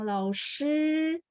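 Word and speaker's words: 老师: Kalau kesulitan, teman-teman sudah bilang lao shi, bunyinya persis sama. Lao shi, 就是这个 shi, ya. Jadi teman-teman pas baca SH, lidahnya ditekuk ya.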